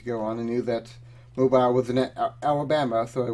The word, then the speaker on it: Mobile: Hope you don't have any southern viewers that are going to attack you for your pronunciation of Mobile. Oh, it's Mobile.